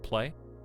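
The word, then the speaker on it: Klei: the win I guess rhymes with Clay there you go clay I guess either way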